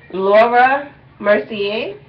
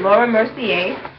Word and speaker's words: Laura Mercier: They call it a makeup portfolio, and the brand is Laura Mercier, is I believe how you pronounce it, Laura Mercier, and this is for makeup.